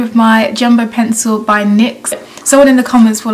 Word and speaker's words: NYX: to go in with my jumbo pencil by NYX someone in the comments were like you're pronouncing NYX wrong it's NYX not NYX blah